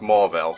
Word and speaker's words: Mauville: Well, I tricked you because it's pronounced Mauville, and hey, green guy whose name escapes me right now.